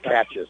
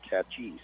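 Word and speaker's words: Naches: near catches ch -a-c-h-e-s we thought it was catches but no it's catches and that's how you say it there so it's on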